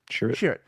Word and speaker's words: Chirrut: Chirrut.